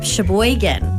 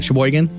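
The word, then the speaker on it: Sheboygan: Shboan. Uh on purpose. Can you even spell that? Shboan.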